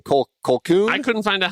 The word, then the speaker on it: Colquhoun: Colquhoun? I couldn't find out how to pronounce it either, but yeah, Colquhoun. Yeah. Colquhoun. Yeah, it's a weird Colquhoun. last name. Let me see. Yeah. Colquhoun. It's actually Colquhoun.